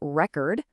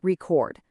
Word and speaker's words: record: Nouns get the stress on the first syllable, but verbs get it on the second. Just listen to the difference here. It's a record versus to record, or an insult versus to insult.